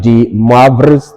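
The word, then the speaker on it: de Moivre: Right, this word here is pronounced moi in French and not moi as per English. So this becomes moi, and this one is vrai. All right, so this is actually De-Moivre's theorem, not just Moivre's theorem as they call it.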